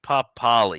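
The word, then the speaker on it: Papali'i: Yeah, Papali.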